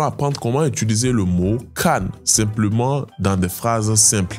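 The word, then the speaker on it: 看: Le mot regardé en chinois se dit can. Cann. Il se prononce au 4e ton. Le ton est descendant et ferme.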